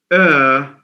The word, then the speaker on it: heir: Either we say Crown Prince, or heir to the throne. It's the same. It sounds like AIR, but it's pronounced HEIR. The H is silent.